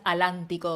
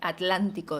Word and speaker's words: atlántico: pronuncia los grupos cultos, no digas alántico o el aleti, decí atlántico, decí No sé, porque esa como es de ellos no la prohíben tanto, ¿no?